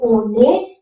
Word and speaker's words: on est: Why we are pronouncing o ne? Because e is a vowel and that vowel sound must be connected with the previous consonant sound, so that it becomes o ne.